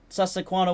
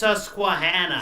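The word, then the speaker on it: Susquehanna: Western had a random variant of the uh Susakuana 142 where they made New Haven 3025 for the game like And if you It's pronounced Susuana.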